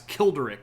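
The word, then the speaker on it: Childeric: This, by the way, is supposed to be Kilder. Yes, like Kill Derek. Uh perhaps Kilderick if you wanted to be a bit more emphatic on the first syllable there.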